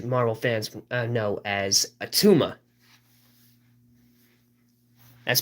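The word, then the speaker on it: Attuma: of huge huge Marvel fans uh known as atuma that's pronounced a-t-t-u-m-a now these water people are a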